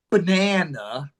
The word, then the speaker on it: banana: Which A is the strongest A? Second A. The second A.